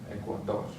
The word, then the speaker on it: Ecuador: And finally, ends with an R, so we're going to stress the last syllable, Ecuador.